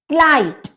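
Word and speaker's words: Kleid: तो हजा हजा पेंस क्लाइड क्लाइड ई और आई मिलकर हमारा संयुक्त वर्ण जो बनता है वो आई बनता है तो हमारा इसका हम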